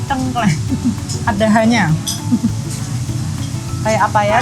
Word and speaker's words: tengkleng: Dan bacanya bukan tengkleng tapi tengkleng.